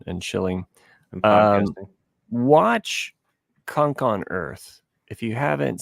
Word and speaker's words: Cunk: watch Kunk on Earth.